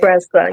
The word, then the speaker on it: Tressa: Is hers Teresa or her Tresa? Like, I'll be like, Tresa, okay, yes. I'm good. I've been saying it correctly.